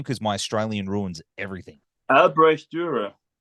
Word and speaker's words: Albrecht Dürer: Now, how do you pronounce his name? Because my Australian ruins everything. Albrecht Dürer. Albrecht Dürer.